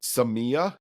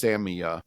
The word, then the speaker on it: Samia: our episode last week, we pronounced Seama is how we pronounced it, I believe, last week. The new artist we were excited about, well, not we're still are excited about, but found out it's actually is pronounced Samia.